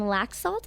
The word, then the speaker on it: Laxalt: general the candidates for attorney general are Adam laxalt is that how you pronounce it that's right and Ross Miller the